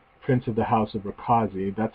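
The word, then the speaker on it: Rakoczy: Prince of the House of Rakazi. That's how Mother pronounced it, Rakazi.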